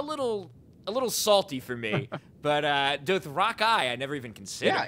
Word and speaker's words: Dothraki: pretty much exactly like this, so you're the Dothraki guy.